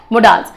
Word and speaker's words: modals: अंग्रेजी में मॉडल नहीं होता, अंग्रेजी में मोडाल्स होते हैं. जो सही प्रोनाउंसिएशन है मोडाल्स.